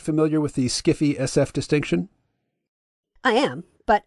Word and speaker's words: sci-fi: and conundrums I think most sci-fi pronounced skiffy has very little interest